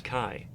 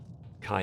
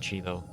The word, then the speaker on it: Chi: in this place for an entity known as kai kai is spelled c i letter not pronounced she just remember why pretty sure a lot of people are calling it cheeto that's okay if they've never heard it that